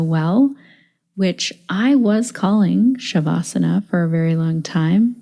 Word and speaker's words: śavāsana: indu in this interview today that it's actually shavasana so as I was learning and do kindly corrected my pronunciation and we got into a really interesting